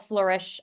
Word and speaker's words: Fleurish: So, but I will tell you that my business is called Flourish uh Consulting. It's spelled F L Eur um which is a French word which means uh to bloom or blossom.